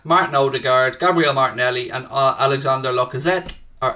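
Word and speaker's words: Alexandre: Odegaard, Gabriel Martinelli and Alexander Lacazette. Or Alexandra. It's Alexander or Dre? It's Dre, isn't it? It's D-R-E. Lacazette, yeah. D-R-E.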